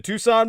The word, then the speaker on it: Tucson: information contact uh the Tucson murders. comom spell that as you would tuxen Tu CS o n put the word the in front of it the Tucson murders.